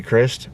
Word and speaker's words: Crist: that like John B Crist I think how you say his name Chris Idol it's like Christ but without the H in it I don't